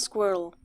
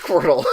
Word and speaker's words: Squirtle: It's just called Squirrel. Just Squirtle. Okay, cool. It still fits. But it's spelled squirt-l. Squirt-L.